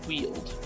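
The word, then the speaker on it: Weald: you call it the wheel or the weld I I never know how to pronounce this it is pronounced the wield yeah the sunny nice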